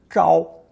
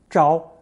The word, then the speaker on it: 招: With the addition of the hand radical, 手, this new offshoot is pronounced first tone, 招, 招.